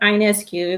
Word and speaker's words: Ionescu: Okay, Liberty rookie Sabrina Ionescu. That's how you pronounce her name.